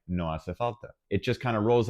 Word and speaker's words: hace falta: You have to remember, it's unnatural for English speakers, but the H is completely silent, it's just hace falta.